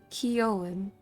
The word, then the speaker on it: Keown: you're really curious about how to pronounce my name i pronounce it keown and if you don't